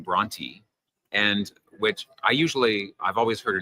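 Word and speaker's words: Brontë: And Bronte would have been pronounced Bronte, and so they spelled out Tee, not Bronte.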